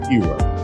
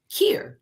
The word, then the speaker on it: Keir: It is not Keir. Correct? Is that correct? Please tell me how to pronounce your name. Keir, like here. you pronounce your name? Keir, like here.